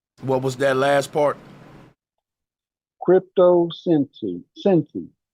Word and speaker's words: Crypto Sensi: Crypto Sensi, like sensei. Okay. So it's spelled crypto the same way you spell crypto, and then SENSI. SEI.